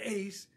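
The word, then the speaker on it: εἰς: it's hard it's interesting because they're spelled the same but the accent is different Hast is one and Ace is into or or unto or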